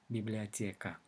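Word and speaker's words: библиотека: Russian it is written as biblioteca however it's pronounced biblioteca why let's take a look at the stress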